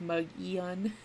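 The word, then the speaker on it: Mogollon: but it's obviously a native word so it's pronounced mug ian and they call it the they call it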